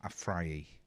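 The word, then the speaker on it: Afriyie: The Tory MP, Adam Afrayi. Have I said that right? Please tell me I've said it right. Okay. But yes. Thank you, Graham. Thank you. Yes, you did.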